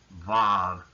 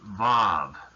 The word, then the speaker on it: Vav: But the letter actually had a V sound.